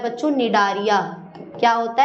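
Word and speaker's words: Cnidaria: नाम होता है बच्चों नेदारिया क्या होता है निदरिया यहां पे साइलेंट है आप बोलेंगे मैं क्या पढ़ रही हैं अरे भैया सही पढ़ रही हूं नारिया बोलते हैं सी साइलेंट होता है है ना तो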